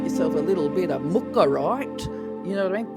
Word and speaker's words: Mookaite: But these days we actually know it as mukarite. Well, actually not with an R. I'll try and say mukar it.